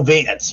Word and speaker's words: Wanz: his name is spelled wanz yeah but it's pronounced everyone calls Auto Vance right yeah the Vu as they call it